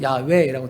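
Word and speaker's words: 야훼: 나다라 대와 있습니다 그 이름은 야외 원지 정확히 발음은 야외라고 되어 있습니다 근데 우리가 성경에 보면 여호 여호와라고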